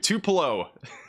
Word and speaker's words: Tupelo: Tell me how to pronounce tupulo or tupollo in Mississippi. Tupelo Tupelo Tupo. Tup Tupelo. Tup Tupelo.